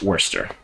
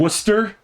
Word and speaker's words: Worcester: Worcester? Worcester. You gotta say it like you can't talk.